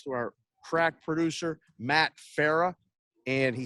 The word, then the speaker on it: Farah: Perrault and I have an extravagant setup thanks to our crack producer, Matt Farah. And he says, say my name like Farrah Fawcett.